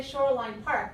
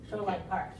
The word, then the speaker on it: Shoreline Park: like that also Shoreline when we get to the name Park then we change a little bit and we say Shoreline Park because usually when we tell the name of a park we usually stress the the last one Shoreline Park all right